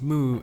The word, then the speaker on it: MW: move by the author of Astro Boy MW pronounced moo is regarded to be